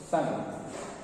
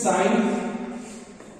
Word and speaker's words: sine: let me write as sine. So S-I-N-E, this is sine, but in the short form we are writing it as S-I-N also. So don't pronounce it as sin, but this sine.